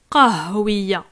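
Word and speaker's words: قهوية: Donc, c'est un petit H, d'accord? Ha, ha, qahwiya.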